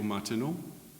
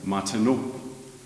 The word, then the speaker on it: Martenot: By the way, the first song is called Radio Martenot.